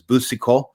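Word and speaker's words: Boucicaut: Uh Jean Le Man Mangre but he's known better as Buso and and that is how you say it in the um old French pronunciation.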